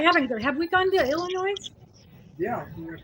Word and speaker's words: Illinois: Have we gone to Illinois? Yeah. The S is silent.